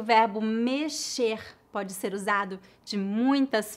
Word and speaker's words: mexer: pronúncia do verbo com a letra x nesta palavra é pronunciada como as letras s h em inglês mexer mexer outra informação importante